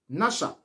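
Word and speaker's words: נשא: Séduire ici, pour commencer, vient du verbe hébreu ou encore du verbe hébreu nasha. Nasha qui s'écrit N-A-S-H-A.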